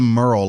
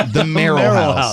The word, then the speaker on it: Merl House: It's not the Merl like Merl Haggard. It's the Merl House.